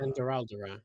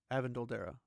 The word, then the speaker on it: Avendoraldera: Avendoraldera, right? No, Avendoldera. I thought it was Avendoraldera. That might be how they pronounce it in the show, but I'm pretty sure it's Avendoldera.